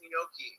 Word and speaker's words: gnocchi: He wants you to pronounce gnocchi.